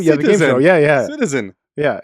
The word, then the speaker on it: CTZN: I thought you were pronouncing it. No, Citizen. CTZN.